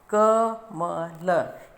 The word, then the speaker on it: कमल: क जमा अ जमा म हलंत जमा अ जमा ल हलंत जमा अ क म ल, इन तीनों को मिलाकर बोलेंगे तो उच्चारण क्या होगा? कमल।